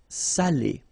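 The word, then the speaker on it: salé: because in that case it means salted okay Sally okay say Sally Say delicio say delicio Okay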